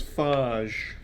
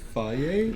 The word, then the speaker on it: Fage: This is Fage. Is that not how you say it? It's fier. Yeah.